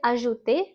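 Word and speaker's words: ajouté: We're going to add an accent on the E and we get ajouter, to add.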